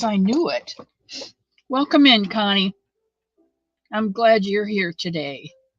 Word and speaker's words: Connie: Oh, sure, it's Connie. She pronounces her name Connie. She doesn't think she does. She says she's saying Connie, but she's probably New Jersey.